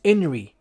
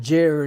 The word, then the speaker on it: INRI: Inri is the Latinized way of saying this phrase here, and it's Inri, not Jer, not with a J.